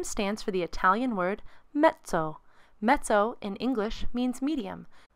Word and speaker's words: mezzo: means medium soft please pay special attention to how we say the word mezzo in italian two z's together make a ts sounds like the word pizza we have mezzo here